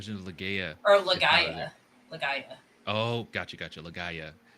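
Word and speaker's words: Legaia: leaya oh gotcha gotcha legaya is how they the they're pronounced their PS one G RPGs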